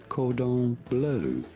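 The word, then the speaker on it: cordon bleu: The John and Gordy Show, Chicken Cordon Blue. Yeah. Is that how you pronounce it? Do you have Julian standing by? I do have Julian to hear him. It is said Cordon Blue.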